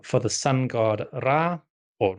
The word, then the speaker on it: Ra: These days, I mostly say Ra, but in the Ramessid era, so around the time of Ramesses II, we do have the cuneiform letters from the Hittite kingdom, which address Ramesses by name. And obviously his name includes the word Ra. And the way they spell it, or the way their syllable writing conveys it, is Ria.